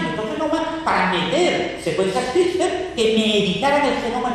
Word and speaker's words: CRISPR: Le dio la pronunciación de estas siglas como CRISPR.